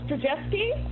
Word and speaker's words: Zdrojewski: to our next presenter, who is patiently waiting, and I'm going to win a badge if I pronounce his name correctly. It's Zdrojewski.